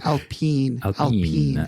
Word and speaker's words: Alpine: pronounce it correctly though it's Alpine Alpine is French so that's the um